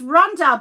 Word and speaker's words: Rhonda: Well, my name is Rhonda, but, a lot of people pronounce the H differently. So But in Australia, it's a silent H.